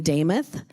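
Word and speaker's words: Demuth: hint on my name Damoth is how it's pronounced my last name if you remember Joe Nameoth It rhymes.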